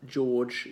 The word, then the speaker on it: George: Give you an example of more non-rhotic words, like George, even my name, just sounds as though it's spelled.